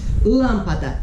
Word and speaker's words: lâmpada: Lâmpada. Se fosse aqui, era uma oxítona. Se fosse aqui, uma paroxítona. Mas é aqui, proparoxítona. Lâmpada, tá vendo? É uma proparoxítona.